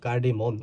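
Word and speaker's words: cardamom: অর্থ সরিষা কার্ডেম কার্ডেমন এটা কিন্তু কার্ডেমন উচ্চারণ হবে কিন্তু স্পেলিং এর সময় এম ও এম হবে কার্ডেমন অর্থ এলাচি মিন্ট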